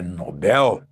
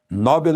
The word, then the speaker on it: Nobel: E atenção à pronúncia lá na Suécia é Nobel. Nobel é uma pronúncia da língua inglesa, mas lá na Suécia a língua é o sueco, né?